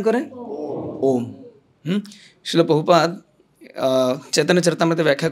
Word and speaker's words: ওম: আবার অনেক সময় বলার সময় না অনেকেরা নমো ইয়োম।